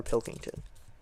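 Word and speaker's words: Pilkington: Keep saying his name wrong. I realize it's Connor Pilington.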